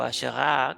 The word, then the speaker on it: Asherah: El, y su esposa Asera, o Ashera, o Asherah, como se pronuncia en hebreo, de esta que tanto menciona la Biblia.